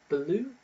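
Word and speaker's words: balut: apparently uh the vietnamese have a dish called blue and that's how you pronounce it b-a-l-u-t which is a developed bird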